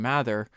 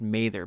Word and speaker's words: Mather: because Ogilvy and Mather, it's actually pronounced Mather, but I always default to Mather. If you hear me mispronounce it, it's just I'm so used to, I read it as Mather, and so it's kind of stuck in my brain as that.